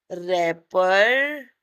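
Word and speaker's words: wrapper: का I throw the रैपर इसमें W silent रहता है डब्लू नहीं बोला जाता रैपर इनटू इनटू लगाएंगे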